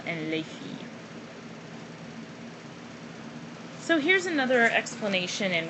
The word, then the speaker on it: les filles: And once again you have an S, but the S on the end of the noun here is not pronounced, nor is the S here. You don't pronounce any of those. You don't hear them.